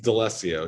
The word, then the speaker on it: D'Alessio: guest is delicio i'm pretty sure i butchered your last name how do i say it correctly yeah all d'alessio dls i've been practicing for 20 years um